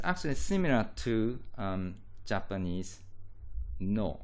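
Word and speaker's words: の: And this is actually similar to um Japanese No. So this is pronounced like no and this word um or this particle has a similar function to possessive s.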